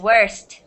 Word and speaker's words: worst: Worse and worst. Yeah. Okay? Worst has the T sound at the end.